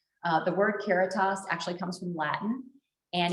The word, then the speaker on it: Caritas: phrase because it helps people remember how to pronounce our name uh the word keratos actually comes from latin and it means charity